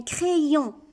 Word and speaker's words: crayon: On ne dit pas crayon, un crayon. Donc, Y ici se lit deux fois. Une fois avec chaque syllabe. Il complète le son E. Ici, cré. Il fait le son I pour la deuxième.